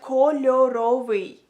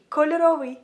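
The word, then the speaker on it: кольоровий: So if you want to say colorful in Ukrainian, you would say it like kольоровий, kольоровий.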